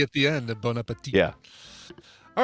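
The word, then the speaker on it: bon appétit: Yeah, you don't pronounce the final T. It's just the way he said it. He's like Bon Appetit.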